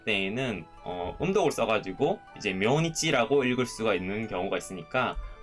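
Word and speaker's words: 明日: 아스보다 더 정중하게 내일을 말을 할 때에는 음독을 써가지고 이제 묘니치라고 읽을 수가 있는 경우가 있으니까 가필을 해두시면 더 좋을 것 같아요.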